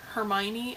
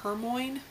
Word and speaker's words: Hermione: Like, I remember Hermione, I pronounced her name Hermoine, which I'm really glad her name isn't Hermoine.